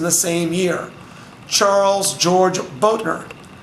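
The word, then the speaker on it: Bothner: Charles George Boettner. It's spelled B-O-T-H-N-E-R. We don't pronounce the T-H the way Americans do.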